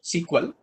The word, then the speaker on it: SQL: That is what SQL, that is SQL, it's actually pronounced SQL.